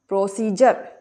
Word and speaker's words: procedure: तो क्या उच्चारण करेंगे हम डी का? जा। प्रोसीजर, क्या पढ़ेंगे इसे?